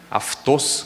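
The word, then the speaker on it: αὐτός: Esse ele, em grego, se falaria aftos. Pode significar algumas outras coisas, né? Esse microfone, né, aftos, micrófonos, poderia ser também.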